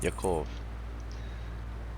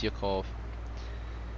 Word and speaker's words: Yakov: to be all right yokov and you spell it yakov it's y-a-k-o-v i'll put it in chat yeah yep perfect yeah his name is yokov um all right let's